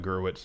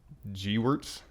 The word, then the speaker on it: Gewirtz: It's not Gerwitz. It's Gewirtz. Gewirtz? Gewirtz. Does that sound right? I don't know. Brian Gerwitz. Is it Gerwitz? No, it's Gewirtz.